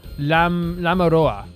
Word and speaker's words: Lamiroir: So, Lamiroir is pronounced Lamiroir. Machi has a hard C on it, so it's Maki, like a...